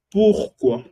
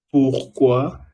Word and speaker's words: pourquoi: Otra cosa es pourquoi. Pourquoi significa por qué. Pourquoi. Recuerda, o y cómo se pronuncia, wow.